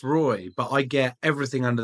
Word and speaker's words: Roei: coming on it is row right I just wanted to confirm you know it's actually pronounced Roy but I get everything